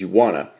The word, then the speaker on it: Uwana: at the top that says you wanna uh hence the name of the app you wanna though it's one word and uh spelled with you but you get the